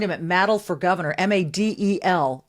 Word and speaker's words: Madel: He is, you can find him at Madel for Governor, Madel, just one D. But it rhymes with paddle, he told me. It's not Madel, it's not Middle, it's not Madel.